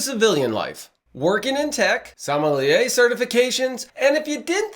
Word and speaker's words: sommelier: experience from military to salmonella with a passion for marketing and i got to ask you did i pronounce it right uh sommelier actually so you're close really close all right as you